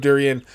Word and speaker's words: durian: While I was crafting and thinking about things, I actually looked up the pronouncement of durian.